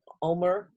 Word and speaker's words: omer: You're talking about, and if I pronounce it right, take an omer of manna. Is that correct? Yeah, an omer of manna.